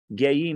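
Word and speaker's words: גיים: It's spelled like Geyim. Geyim, not Goyim, which is pronounced like Geyim, exalted persons.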